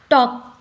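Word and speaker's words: talk: भी साइलेंट होता है टॉक टी ए एल के टॉक हम टॉक नहीं कहते इसको टॉक यहां पर भी एल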